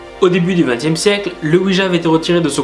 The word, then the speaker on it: Ouija: Ce qui décrédibilise totalement la chose, mais plus sérieusement on devrait le prononcer Ouija.